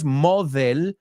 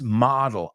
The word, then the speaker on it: model: lovely nudia just be careful with the pronunciation moel it's model a model so it's model my role model right